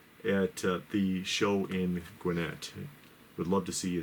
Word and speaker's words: Gwinnett: And once again, next Saturday, come and join us in Gwinnett. See, I said it right. Yeah, you did. At the show in Gwinnett.